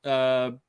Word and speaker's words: Soule: So I always say Charles Soule. I know it's Soul, but I need to read, what the hell?